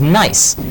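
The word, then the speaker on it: gneiss: And somewhere in the back of my brain, I connect it with another word I had heard of, which is nice. And that nice is spelled G-N-E-I-S-S.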